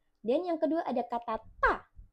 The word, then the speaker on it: 大: Dan yang kedua ada kata ta. Ta pakai D bacanya berarti seperti T.